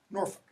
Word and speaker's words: Norfolk: Don't pronounce the L. Norfolk.